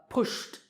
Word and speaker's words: pushed: Pushed, pushed. Here the last sound is sh, so pushed.